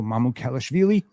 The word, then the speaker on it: Mamukelashvili: Here comes Sandro Mamukelashvili. Notice I'm saying it correctly.